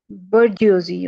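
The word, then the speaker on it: bourgeoisie: के लिए हम यह बोजियोस बोजियोस ये एक वर्ड है थोड़ा सा डिफिकल्ट भी होता है यह प्रोनाउंस करने में बट I must tell you कि इसको प्रॉपर्ली कैसे प्रोनाउंस करना है बजजी ओके मुस्लिम बर्जजी मींस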